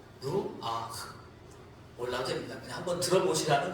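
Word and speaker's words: רוח: 영은 구약 성경에 기록된 히브리 말로는 루아흐라고 합니다. 한번 따라해 볼까요? 루아흐. 네, 루아흐. 몰라도 됩니다. 그냥 한번 들어보시라는 겁니다. 루아흐. 이게 목에서 나오는 소리로 발음해야 되는데 그 아랍 사람들이 특히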